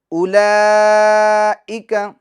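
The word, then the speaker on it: أولئك: تو اولئک میں جو واو ہے یہ سائلنٹ حرف ہیں جو لکھنے میں آئے گا مگر پڑھنے میں نہیں آئے گا.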